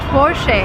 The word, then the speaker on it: Porsche: The stress goes to the first part of the word and we say fore never say forche.